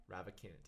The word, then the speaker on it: Ravikant: how do you say that last name? Ravikant, yeah.